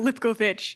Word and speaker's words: Lipkovich: right next up lipkovich U pretty close lipovich I don't know why why my parents chose to spell it like that uh yeah so my